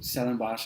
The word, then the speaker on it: Stellenbosch: It's Stellenbosch. I think I'm pronouncing that right.